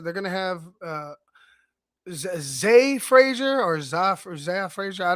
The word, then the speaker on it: Zah: Maybe they like I said, they're gonna have Zay Frazier or Zah Frazier. I don't know whatever how you pronounce it. I think it's Zay, but spelled Z-A-H.